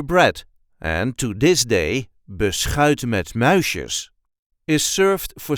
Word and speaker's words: beschuit: We will also see how to pronounce beschuit met muisjes later in the video. This is how we say beschuit. Beschuit. There is a light emphasis on the last part of the word.